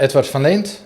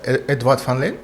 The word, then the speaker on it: Edward van Leent: Is that the right name, Edward van Leent? Yeah, you can say that, Edward van Leent.